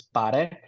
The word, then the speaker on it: Paré: Add a little bit of that accent, which is also too why I added that accent mark is to kind of showcase like, hey, like that's how you pronounce it as a Filipino.